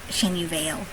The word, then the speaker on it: Chenyu Vale: dis th source of the storm that buffets shenu Veil Shan Shan I have it written down here